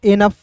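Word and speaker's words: enough: ई एन ओ यू जी एच पढ़ेंगे दोस्तों एनफ ठीक है ना?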